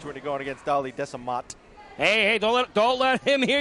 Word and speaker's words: Desamot: You need more than a home field advantage when you're going against Darley Desamot. Hey, don't let him hear you call him that. Well, what's he going to do? The T is silent.